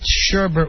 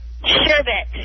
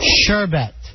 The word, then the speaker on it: sherbet: to our attention that it's really not sherbet. What is it, Jordan? Sherbet. Sherbet. So we have. I don't know if that's how you say it, but that's how it's spelled.